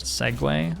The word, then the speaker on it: Segue: So this is pronounced Segue, I found out last night. Awkward. Yeah, so we can play Segue.